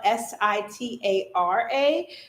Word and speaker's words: Sitara: Now, it is spelled SITARA, which is the original spelling of, like, if you have sitar, the instrument. But that is always how I taught people to say my name, especially for all my East Indian, East Asian friends, my Pakistani friends. That's always the reference they would make. They'd be like, oh, sitar, or like sitara.